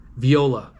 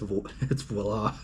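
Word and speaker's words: voilà: It's French, and yeah, he said it very deliberately, and it was Viola. He said Viola. What's that? I'm like, it's voila.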